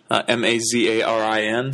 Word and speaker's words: Mazarin: the roman catholic church cardinal macera m-a-z-a-r-i-n sometimes pronounced mazarin it was really mazarin